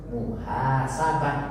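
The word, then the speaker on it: محاسبة: Di sini termasuk klasifikasinya adalah muannas, muhasabatun. Tetapi dalam pengucapan, kalau kita diwakaf, kalau kita berhenti, maka yang tun ini cukup dibaca muhasabah.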